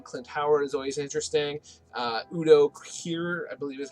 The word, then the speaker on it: Udo Kier: Udo Kier, I believe is how you pronounce his name, is a very, very cool actor.